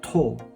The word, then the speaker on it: 土: This time we pronounce it as to instead of do. To. Chi, tochi, tochi, tochi means land.